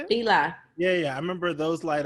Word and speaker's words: Fila: Fila.